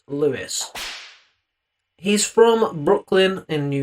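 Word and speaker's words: Louis: Now, his name is spelled L O U I S. Matt Lewis.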